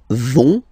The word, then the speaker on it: vont: So, ils vont, final T, not pronounced.